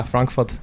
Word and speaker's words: Frankfurt: mill funk foot yeah Frank foot for all of our Germans out there that's a German pronunciate yeah or older or